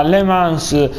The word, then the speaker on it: Le Mans: Io sono Onda d'Urto e dopo le scorse due gare a Le Mans, diciamo, si pronuncia così, con la Ducati e poi ad Assen con l'Aprilia, oggi andremo a correre a Losail e al Mugello.